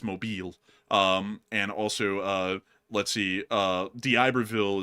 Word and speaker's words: Mobile: Don't go to the South and call Mobile. That's the wrong way to pronounce it. It's Mobile.